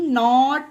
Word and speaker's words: knot: के बाद जिस वर्ड में जस्ट बाद एन दिखे वहां पर के साइलेंट रहेगा, जैसे कि knife, knee, नॉट, नो, knowledge, नॉक, निट, new, night, naive, nail, नैपर।